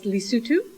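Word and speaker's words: Lesotho: in a country called it spelled like loto but it's lutu it's a landlock country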